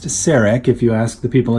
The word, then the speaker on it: CEREC: can you can read this but it is pronounced to CEREC if you ask the people at dense supply Cerrone that's not Sarah RAC or Sarah Corr sirak it's Sarah RAC generally speaking at least the way I was